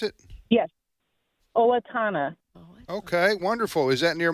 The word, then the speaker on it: Owatonna: How do you pronounce it? Yes, Owatonna.